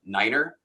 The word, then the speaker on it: Niner: One of the most famous ones is Niner, which historically, and whether it's true or not, they say, oh, well, the Germans will say nein means no, so let's use Niner.